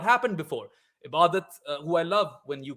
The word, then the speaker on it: Ebadot: I thought it was Ebadot. I thought that's how it's supposed to be pronounced. I call him Ebadot in my head as well, but no, it's Ibadat Hussain.